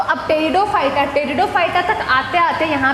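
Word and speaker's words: Pteridophyta: पेटेरो नहीं बोलते इसको, टेरिडोफाइटा बोलते हैं बेटा, इसीलिए मैंने आपसे बुलवाया। टेरिडोफाइटा, पी साइलेंट होता है इसमें।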